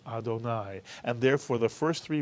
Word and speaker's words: Adonai: our life and then instead of saying Irving or sad or God's name we say my Lord or our Lord or oh Lord and we pronounce it Adonai and therefore the first